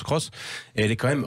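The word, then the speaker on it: Aygo X: c'est taïg au cross elle s'appelle à gouvix on prononce cross et elle est quand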